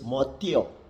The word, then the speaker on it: motio: Kecuali kalau diikuti vokal dan tidak didahului oleh A, maka TI diucapkan seperti tes, tes. Contoh Motio, ditulis Motio dibaca Motio.